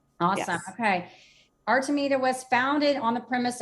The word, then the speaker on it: Artemida: And the name of your company, pronounce that for me real quick too, so we know how we're pronouncing. Artemida. Artemida.